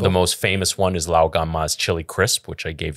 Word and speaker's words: Lao Gan Ma: The most famous one is Lao Gan Ma's chili crisp, which I gave you a jar of. Lao Gang Mas. And Did I say it right? no. That sounded Vietnamese.